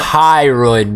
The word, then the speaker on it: hyoid: Yeah, so I found the it's a hyoid bone. Say that one more time. Oh, I can't. The hyoid bone. No R. Hyoid.